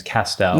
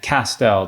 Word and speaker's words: Castel: my last name is castel yes and i've told you this it rhymes with pastel and my great grandfather was a painter so now you can kind of connect castel to pastel and then